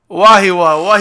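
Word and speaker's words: Wahiawa: And he says, I can't even pronounce it. Wahiao? Is it Wahiwa? Wahiwa.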